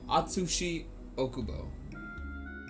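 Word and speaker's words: Atsushi Ōkubo: Gachi Akuto was actually a a student of Atsushi Okubo I think is how you say their name. I always forget it. It's uh I have their books right here. What is it? It's Yeah, Atsushi Okubo.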